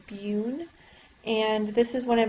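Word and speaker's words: BUN: or blood Ura nitrogen it's pronounced beun and this is when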